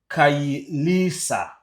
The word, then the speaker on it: Khayelitsha: How do you pronounce that town? Khayelitsha, Cape Town, South Africa, on Monday, 30th June 2026, during the anti-immigrant demonstration linked to ongoing xenophobic attacks.